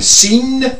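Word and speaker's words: Sijnn: S-I-J-N-N. Seen. It had better be seen and not heard.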